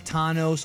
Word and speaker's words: Thanos: him tanos is because Stan Lee pronounced it as tanos during the Marvel magic hour back in the 90s